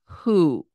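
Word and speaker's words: הוא: he at the end the fourth word is who with the he the oo sound is the stick with the dot next to it and a silent Olive on the end Who and the last word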